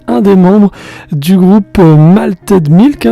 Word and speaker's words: Malted Milk: Et là à mes côtés j'ai un des membres du groupe Malted Milk. C'est comme ça qu'on le prononce. Oui oui, un petit peu à la française mais on a un groupe français donc c'est cool, tout va bien.